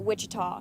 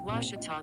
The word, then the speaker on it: Ouachita: university back in texas everybody pronounces it wichita but really it's ouachita washington how would you pronounce it it's washita baptist university get it